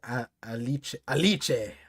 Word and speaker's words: Alice: Alice is pronounced the Italian way. Alice. Oh. Sounds like ice cream. That's a nice name. Alice. Sounds like a leche. Sounds like milky.